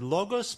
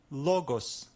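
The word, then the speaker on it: λόγος: this is a word logos meaning word this is our accent which means that we will need to stress this letter this syllable as we read it first let's name every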